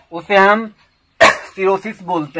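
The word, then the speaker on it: cirrhosis: Next word है सिरोसिस, CIRROSIS, सिरोसिस. सिरोसिस तो यहां पर हम देखते हैं कि एच ओ साइलेंट है, सिरोसिस.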